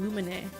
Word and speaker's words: Lumine: I would use the JP pronunciation Lumine.